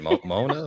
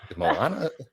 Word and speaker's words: Moana: I said Mona Mo Moana.